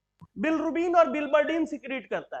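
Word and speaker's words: bilirubin: बिलरुबिन, बिलरुबिन, the original name is and original pronunciation is बिलरुबिन, और यही बिलरुबिन का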